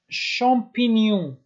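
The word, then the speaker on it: champignon: و اینجا داریم شامپینیون، اینجا هم این آخر تلفظ نمیشه.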